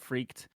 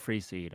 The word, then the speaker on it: Freeced: Yeah, I mean honestly, like I've heard Freaked and like Free Kid. Freaked is I've heard crazy. Freaked a lot. Yeah, quite a bit. Um, Yeah, so I've written like Free one seed. syllable rhymes with beast.